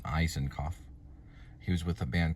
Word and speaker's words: Isakov: So, how they say his name is Gregory Allen Eisenoff.